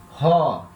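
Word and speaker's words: ὁ: O artigo é ró. Ró. Vogal ômicron. Espírito forte. Então, vogal aspirada. Ró.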